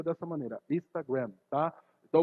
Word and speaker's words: Instagram: Não é Instagram, não tem acento no final, né? É uma palavra americana e ela se pronuncia dessa maneira, Instagram, tá? Então o povo vai abrasileirando e fala Instagram, né?